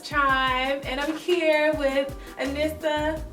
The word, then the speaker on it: Anisa: It's Chime, and I'm here with Anissa. Did I say your name right? Anisa. I always mess it up, and I feel like you never correct me when I say it wrong.